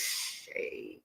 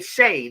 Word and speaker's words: Shai: Ti, do I say Shay or Shai? Yes. H A I. Yeah, Paul. Thank you. It's Shay. Shay. So, I say Shay then, right, guys?